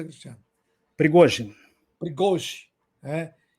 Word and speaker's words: Prigozhin: Assim é a pronúncia, Cristiano? Prigozhin.